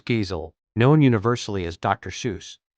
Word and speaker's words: Seuss: Seuss, maintained that his pen name was meant to rhyme with voice, pronounced Zoe rather than goose.